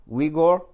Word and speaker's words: Uyghur: Now the Uyghur, that's how you pronounce it, Uyghur.